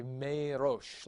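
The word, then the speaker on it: מֵרֹאשׁ: to a sere, and you'd say me rosh, like that. That's how you'd pronounce that.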